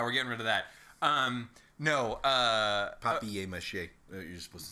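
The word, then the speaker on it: papier-mâché: Papier mache.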